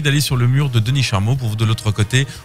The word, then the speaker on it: Denis Charmot: Et donc il suffit d'aller sur le mur de Denis Charmeau pour vous de l'autre côté. Vous tapez Denis Charmeau, comme ça se prononce, c'est H-A-R-M-O-T.